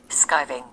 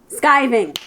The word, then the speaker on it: skiving: Skiving. Skiving. It rhymes with diving.